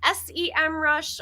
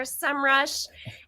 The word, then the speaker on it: Semrush: he wants to know is it pronounced s-e-mrush or semrush and it is officially as of last or two Decembers ago semrush there's a whole video